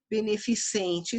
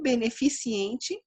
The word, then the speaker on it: beneficente: Beneficente, sim. Beneficiente, não.